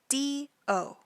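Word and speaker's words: D.O.: we have the member d o d o d o now his name comes from his last name which is do but the periods make it pronounced d o and so his full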